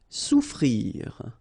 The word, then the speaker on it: souffrir: Souffrir. Okay, so double F is not pronounced. Okay, so souffrir. Fermer.